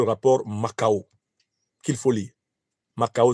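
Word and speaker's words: Mackau: Macao s'écrit M-A-C-K-A-U, et qui reconstitue les conditions dans lesquelles la monarchie, puis l'Empire, puis la République française ont ruiné Haïti.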